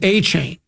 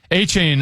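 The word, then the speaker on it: Achane: Okay, now, now I'm being told, no, it's A-Chain.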